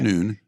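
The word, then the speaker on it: Noone: of what that was Peter Noon I guess that's how you say his last name yes it's spelled did I say that right yes Peter Noon was the lead singer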